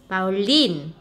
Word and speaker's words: violin: Van, van, bình hoa, vase, vase, vase, bông hoa, violet, violet, violet, violet, violet, violet, violet, và đàn violon, violin, và violin, nhấn âm cuối.